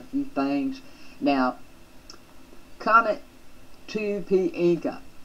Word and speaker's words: Encke: And for those of you who think that I am not pronouncing this correctly, we'll get that out of the way. Encke. Encke.